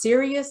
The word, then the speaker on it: Sirius: a serious xm and that is pronounced serious is that correct s-i-r-i-u-s